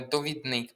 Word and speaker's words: довідник: Неправильно наголос стоїть у слові до е довідник. Правильно довідник. Чому? Бо довідатись. Довідатись. Довідник.